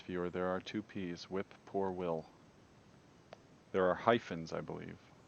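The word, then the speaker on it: whip-poor-will: weird noise um but if you slow down the the name of the bird and you look at how it's spelled it's actually called a whip poor will as in whip poor will like whip a guy named will then we we've also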